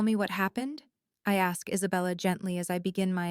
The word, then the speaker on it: Isabella: Isabella. She pronounces it with perfect Spanish inflection, the B soft as a whisper.